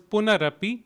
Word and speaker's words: punarapi: the first word is punarapi it is it could be split into punah and api puna api together it would be puna rapi please respond twice puna